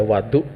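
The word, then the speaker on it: وضوء: Saya salah, ya, saya yang menuangkan untuk beliau itu bukan wudu, ya, wadu bacanya.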